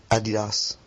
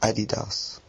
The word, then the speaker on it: Adidas: European way, Adidas. Adidas. What? Adidas. The American way, Adidas.